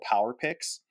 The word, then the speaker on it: Power PYX: It's called Power Picks. Mm-hmm. But it's spelled Power PYX.